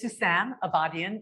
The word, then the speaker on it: Sousan Abadian: say my name properly so my name is Susan avadian and um you know a lot of my